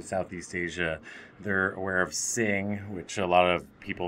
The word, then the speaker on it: Singha: who come to southeast asia they're aware of sing which a lot of people mispronounced singha beer in thailand and beer chong which most